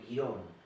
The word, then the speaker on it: Quirón: Bueno, en definitiva, Quirón, como lo conocemos nosotros, Quirón con acento en la O, es el centauro inteligente,